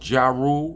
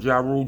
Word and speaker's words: Ja Rule: I'm like, you call, you can't pronounce Ja Rule. You calling Ja Rule Jarul?